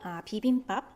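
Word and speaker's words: 비빔밥: When you say the first two syllables, 비읍, they are in the initial position. If 비읍 is in the initial position, it will sound similar to English B, like as if it's in bottle, 바, 비빔.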